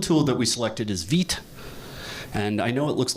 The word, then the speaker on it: Vite: Uh the build tool that we selected is VIT. And I know it looks like vite, but uh it's pronounced vit. It's a French word.